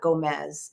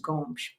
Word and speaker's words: Gomes: It's not Gomez. It's Gomes, and it's pronounced Gomes.